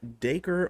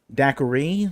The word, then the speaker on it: Dacre: first name okay because we weren't sure if it was the cray Daiquiri like the uh like the drink yeah exactly but it is daker this makes sense because